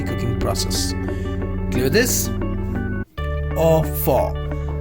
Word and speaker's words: au four: Or for. How to pronounce this? F-O-U-R is for, F-A-W. A-U, F-O-U-R. How to pronounce this? A-U, I told you here, A-U is as O.